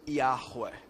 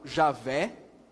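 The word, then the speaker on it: Yahuah: o nome de deus que é a pronúncia ea rua ea rua essa seria a pronúncia é mais próxima do que é o nome de deus alguns falam javé é possível também eu creio que o mais próximo seria ea rua oque seria essa pronúncia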